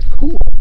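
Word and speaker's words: KÜHL: And it's a cool, right? Yeah. K-U-H-L. Yeah, that's how to spell it.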